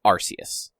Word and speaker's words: Arceus: way that it's written, it is Arceus. Okay. Like, it is a soft C sound. Okay. But in America, it is apparently Arceus or Arceus.